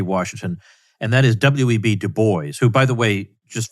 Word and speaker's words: Du Bois: of book t washington and that is w.e.b du bois who by the way just for anybody listening that is how he pronounced his name he pronounced it du bois and the question is it's been a perennial